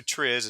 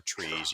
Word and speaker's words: TRIZ: right but um so Tris it's t-r-i-z it's called Tris or trees you pronounce it either way it's a Russian acronym